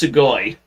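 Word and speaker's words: すごい: I can't even speak Japanese, and I know it's pronounced Sugoi.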